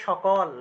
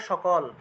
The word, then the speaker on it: সকল: তারপর মনে করেন যে সকল বাংলায় বললে তো সকল কিন্তু সংস্কৃতে বললে সাকাল সাকাল ঠিক আছে তারপরে আরেকটা আছে